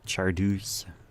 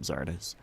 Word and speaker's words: Czardus: Yeah, it could be Czardus. And maybe that's what Skibith said, like Czardus. I think that's what he said, Czardus. But I definitely pronounce it Czardus. As you all know, because I say it every single video. But hello, I'm Czardus.